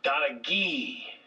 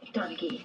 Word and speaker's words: Donaghy: Donaghy name. That's how it's pronounced. Say it. Donaghy.